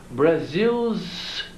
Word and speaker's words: Brazil's: Agora, às vezes, a pronúncia é difícil. Por isso, nós temos que enfatizar o S. Brazil's flag. Nós não podemos cortar o S.